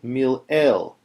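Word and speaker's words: מלעיל: This is called, this type of accent, where the accent is on the next to last syllable, rather, of the word, is called mil-el.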